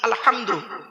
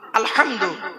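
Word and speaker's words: الحمد: দেখেন আলহামদুলিল্লাহি রাব্বিল আলামিন আলহামদু আলহামদু এই গলার ভেতর থেকে উচ্চারণ করবেন আলহামদু মানে হচ্ছে সমস্ত প্রশংসা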